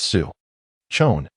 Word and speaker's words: Su Chong: Noticing her struggle to pronounce his name correctly, he decided to offer a mini lesson. All right, it's Sue. Chon, you scored 11 points with two blocks, one steel, and one assist in this game.